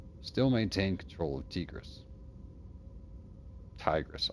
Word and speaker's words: Tigress: control of tigis Tigress I don't know why I say it every time like that probably because it should be pronounced tigis if it was Tigress it would have to be TI g e r s like you know tiger anyway I'm trusting that you